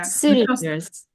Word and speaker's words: cylinders: Cylinders. The first syllable is stressed.